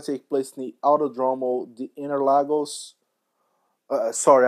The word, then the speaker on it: Interlagos: Autodromo the Interlagos sorry I read that in English I'm Brazilian so this track is in Brazil so we usually pronounce that as Autodromo Cinque Terre lagos that's the native way to pronounce the track's name autódromo jean Ted Lagos